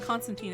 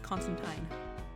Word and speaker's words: Constantine: Yeah, although it's not Constantine, it's Constantine. Because it's the English pronunciation, not the American pronunciation.